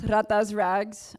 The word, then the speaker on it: Ratas Rags: So it is pronounced Ratas Rags. I was born in the year of 1996, so I took on the rat.